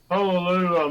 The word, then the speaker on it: Pololu: Is that how you pronounce it? Yeah. Pololu motor driver in there.